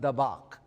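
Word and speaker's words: דָּבַק: is pronounced dabbach.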